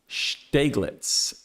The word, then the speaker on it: Steglitz: I did learn how to say this right here, though, and it is Steglitz. Jim Girth, let me know if I'm wrong. Resident German. Steglitz, I think is the right way to pronounce this.